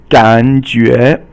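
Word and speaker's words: 感觉: Okay, so 感觉 means it's third tone, 感, and 觉 is second tone, and it means to sense something.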